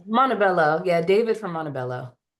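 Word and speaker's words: Montebello: How can we use blue light in our daily lives is a question from Oh, is it Montipilo? Did I pronounce that right? California. Hopefully I did. I think Montabelloo.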